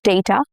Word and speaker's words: data: Both these pronunciations are accurate. Both are correct, but data is more common in American English and data is heard in British or Indian English. Same spelling, but vowels shift across regions.